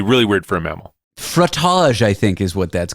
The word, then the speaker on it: frottage: Frottage, frottage. Frottage. It rhymes with fromage.